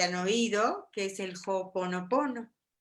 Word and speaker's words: Ho'oponopono: oído, que es el Ho'oponopono. Y esta palabra está compuesta de Ho, que viene es H-O, porque ves que en Hawái la H se pronuncia como Ho, digo, como J, entonces H-O es Ho.